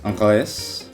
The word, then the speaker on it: anglais: Italia, anglos, ucran.